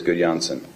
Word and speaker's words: Gudjonsson: Gudjonsson. How's my pronunciation? Perfect. It was very nice.